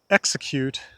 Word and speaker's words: execute: In a word like execute, the stress is on X. It's not on e. If we stress e, we say execute and that's not the word.